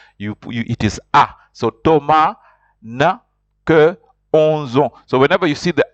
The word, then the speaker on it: Thomas: Thomas Thomas in Frank Thomas is pronounced you don't pronounce the S and then the H is silent so it's pronounced is